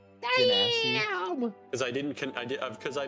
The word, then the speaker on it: Genasi: For the longest time, I referred to Genasi as Ganassi Genasi.